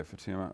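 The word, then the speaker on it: Futuyma: I hope I'm pronouncing his name. Is that how? I think he's an evolutionary biologist. Is that how it's usually pronounced? Yeah. Okay, Fatuma.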